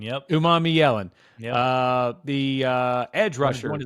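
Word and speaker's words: Umanmielen: Uman Yellen. Yep. Uman Yellen.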